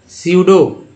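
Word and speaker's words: pseudo: तो देखिए pneumonia example था दोनों, पी के बाद एस आ गया है तो सिर्फ पी साइलेंट हो जाएगा। स्यूडो, फिर देखिए पी के बाद एस, साइकाइट्रिस्ट, पी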